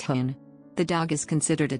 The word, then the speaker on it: houn: The name Stabij translates roughly as stand by me, with the last part simply Frisian, meaning dog, which is pronounced hoon.